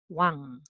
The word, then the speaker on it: 왕: So it is 왕. Okay. So pronunciation.